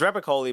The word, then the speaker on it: Repacholi: It's Rapakoli, but it's spelled ch.